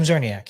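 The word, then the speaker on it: Czerniak: Zerniak, yeah. Zerniak. I think so. But there's a C in front of it. And I think the C is silent.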